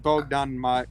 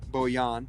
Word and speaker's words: Bogdan: good enough i mean at least you said bogdan and not uh bo yan oh the utah the